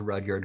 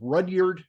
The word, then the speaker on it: Rudyard: Very few people pronounce Rudyard correctly the first time. But my parents grew up in the thriving metropolis of Rudyard, Michigan, up on the Upper Peninsula.